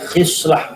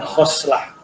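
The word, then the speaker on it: خصلة: Ini dibacanya khislah, bukan khoslah.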